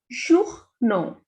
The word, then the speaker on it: journaux: Here we have two vowel combinations. First is O and U, and next is A and U. The pronunciation of O and U is U, and A, U, and with X also the pronunciation is O. So this is journaux.